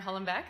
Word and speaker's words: Hollenbach: So hi again, I'm here with Hollenbach. That is the right pronunciation, yep. isn't it? Or Hollenbach, technically, but I say Hollenbach, so that's fine.